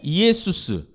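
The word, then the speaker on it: Ἰησοῦς: 뭐겠어요 어 익투스 나중에 그게 익스가 되죠 예 이에수스 그 예수입니다 예수 예 우리 이헬리나 압시다 예수님이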